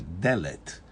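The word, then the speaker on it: דלת: Só que muda o A para E, Delet.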